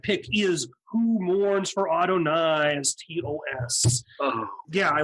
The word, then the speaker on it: Adonai: I don't know who, and I always thought it was Adonis. I don't know how to say it. I think it actually is Adonis, isn't it? It's the way. No, it's Adonai. It's Adonai.